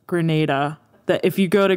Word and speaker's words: Grenada: So the Grenada was Grenada or Grenada? It's Grenada. Grenada, thank you. My dad wanted to let you know that it's pronounced Grenada.